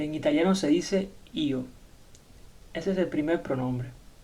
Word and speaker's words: io: Tenemos el pronombre yo y en italiano se dice io.